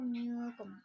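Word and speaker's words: منكم: Kita membacanya antara izhar dan idgham. Minkum, bukan minkum dan bukan juga minkum. Kita membacanya samar-samar, yaitu minkum.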